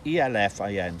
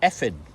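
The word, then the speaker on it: Elffin: So it looks like elf in. So people would call would who didn't know would would say it's elfin. So my name would be Alfin for those that didn't know. But it's actually pronounced effing.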